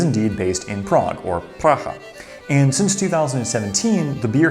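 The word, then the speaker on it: Praha: A relatively new company in the scheme of Czech brewing history, Praga, or Pracha, as I understand it's pronounced in Czech, I hope, was only founded in 2004.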